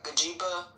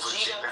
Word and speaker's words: Vegeta: So I know who Gajiba, Lord, I mispronounced the name. What's that child name? Vegeta? Oh, Vegeta.